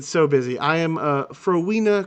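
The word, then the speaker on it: Phrowenia: that I been so busy I am a froa crew um crew I will spell it for you because it's very hard p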